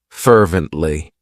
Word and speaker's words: fervently: It has three syllables and the stress is on that first syllable. Fervently.